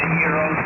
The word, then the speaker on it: gyros: By the way, I know they're pronounced gyros, and I swear, man, when I'm in that speaker at Arby's, I just did this the other night because I got K1.